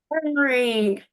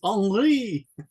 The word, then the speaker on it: Henri: I said, Henry, how do you say your name in French? And you know the answer, right? Henry. No, in French it's Henri.